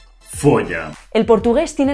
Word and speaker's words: folha: Folha. Folha. El portugués tiene la pronunciación que todavía se conserva hoy en español en algunas regiones no yeístas.